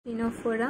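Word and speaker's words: Ctenophora: टीनोफोरा बा phylum टीनोफोरा। टीनोफोरार एखाने सीटा साइलेंट है।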